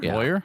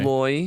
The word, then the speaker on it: lawyer: How do you pronounce how do you pronounce the first syllable of the word Lawyer? Does it rhyme with boy or does it rhyme with flaw? Wait, what? Lawyer?